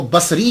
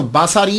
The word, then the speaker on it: بصری: وہ کہا جاتا ہے۔ لیکن ایک بات یاد رکھیے گا کہ جب آپ اس کو تلفظ کریں گے تو باساری نہیں کریں گے، سواد کے اوپر زبر نہیں پڑیں گے۔ اگر آپ نے سواد کے اوپر زبر پڑا، باساری بن گیا، تو اس کا معنی